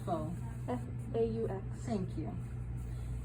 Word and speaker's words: faux: this like in a faux leather how do you spell faux f-a-u-x thank you it's not pronounced fox which a lot of students think that how you pronounce it um so it's f-a-u-x